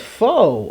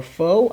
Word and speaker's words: pho: into sushi right no that's faux or Foe I think that's how you say it yes it is I've had this before